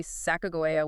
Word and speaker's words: Sacagawea: The federal and academic standard is usually sakoa with a hard G.